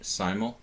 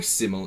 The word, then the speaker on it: simul: I'm going to start the entry process right now with create simol or simile if you if you're from the UK and prefer this pronunciation simile.